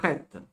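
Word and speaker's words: ח: Comme d'habitude, KH se prononce Chota. Chet. Il vaut mieux que vous disiez R si vous n'avez pas à dire autre chose.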